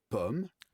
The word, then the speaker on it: pomme: La différence entre O et o peut être la différence entre deux mots différents. Par exemple, par exemple pomme, pomme et paume.